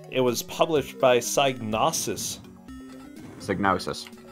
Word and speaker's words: Psygnosis: was published by Psygnosis sig notice that one that's how I pronounce it so anyway hang on